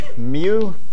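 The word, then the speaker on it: μ: use the Greek letter which is pronounced in English as Mew and also called the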